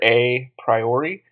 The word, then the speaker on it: a priori: word in the text you may think it's the letter A priori but a priori and aposteriori as you'll see are